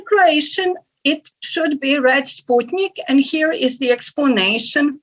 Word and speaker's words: Sputnik: So in Croatian, it should be read Sputnik, and here is the explanation for this approach.